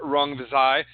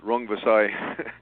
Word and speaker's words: Rungvisai: One of your other fighters, Roman Gonzalez has what I think is a difficult fight on the undercard against Swiskatet Sor Rungvisai as a Thai fighter, and he had a very difficult and competitive match with Carlos Cuadras, who's also on the undercard.